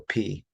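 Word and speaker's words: π: in the United States we would call it PI right but with harassment pronunciation we call it P so P okay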